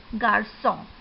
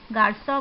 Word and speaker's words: garçon: You can see garçon. You have already learned about garçon. Garçon means boy. C is pronounced as S.